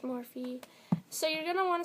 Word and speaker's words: Morphe: from morphe and yes it's pronounced morphy so you're going to